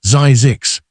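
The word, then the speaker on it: Zzyzx: health spa, and named it Zisks, pronounced Zizix, so it would be the final listing in every directory.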